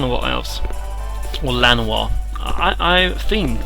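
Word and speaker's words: Llanowar: the elves here the Jan elves or Lan I I think that Double L is supposed to be pronounced like a j Jano or something like that but but uh I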